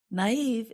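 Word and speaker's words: naïve: can be easily tricked naive is spelled n a i v e and we put two little dots above the letter i to show that we pronounce that vowel separately and gullible is spelled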